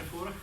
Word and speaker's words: Furch: So you pronounce Furch. We pronounced Furch. That's right. And in Czech is right. Furch. And in the English territories you pronounce Furch. I've heard Furch. I've heard in Germany Furch, in Japan Furchi, and maybe some other options out there.